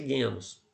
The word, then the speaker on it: genos: Genos. Mas a pronúncia é genus.